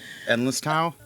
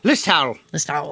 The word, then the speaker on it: Listowel: In Listowel, I think that's how you pronounce that town. Endless towel? Listowel. Listowel. Like that, yeah.